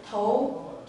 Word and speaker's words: 头: this hair is pronounced as toe toe and it means the head or the